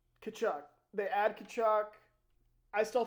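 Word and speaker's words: Tkachuk: Don't pronounce the T. Kachuk.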